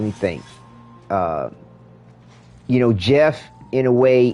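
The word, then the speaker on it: Goff: He spells his name G O FF or G O F, something like that. Looks like G off, but yeah, it's pronounced Jeff.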